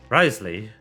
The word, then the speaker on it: Wriothesley: up by the rizman Risley I figured out how to pronounce a stupid ass name it's not French actually it's uh it's British that's weird look there